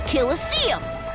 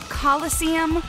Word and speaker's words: Coliseum: for what isn't that obvious this is a kosum I'm going to kill you demons kill excuse you you adult you can't even say it right there's no such thing as a kisum what it's pronounced Coliseum which is an Amphitheater made in ancient Rome